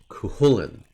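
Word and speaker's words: Cú Chulainn: Now, Pete, I've seen some different pronunciations for this one. With a k sound for the second syllable, or not. But I'll go with yours today. Cuchulain. But I have seen it transliterated with a k sound in the middle.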